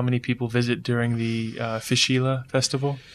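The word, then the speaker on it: Fèis Ìle: Do they have any kind of idea or metric on how many people visit during the Fishila festival? Am I pronouncing that right? Yeah, Fishila. Fishila.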